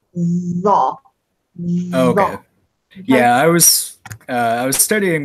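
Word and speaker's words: ظ: Za. It's pronounced za.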